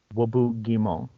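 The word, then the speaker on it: Roboute Guilliman: But Reboute Guilliman, you have to admit it's a French name, right? So in French, it would be pronounced Wobu Guimont. But nobody calls him Wobu, because that's fucking silly.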